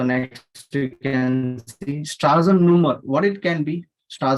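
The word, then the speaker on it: Nummer: that is a difference is not number here it is numer okay and the pronunciation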